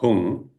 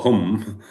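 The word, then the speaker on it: hūṃ: The seed syllable of Vajrapani is syllable hung. So hung is you call hung or hum.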